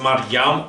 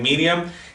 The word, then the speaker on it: Maryam: Entonces, el libro de la Peshita nos dice cómo es el nombre correcto de la Virgen María, que es Maryam, o se pronuncia también Miriam, y así viene aquí.